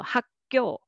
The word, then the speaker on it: 학교: And next is, let's read syllable by syllable, 학교. But after you say 학, uk sound, without pause, it is hard to make soft g sound. You will naturally pronounce it tense. So 학교, 학교, that's natural.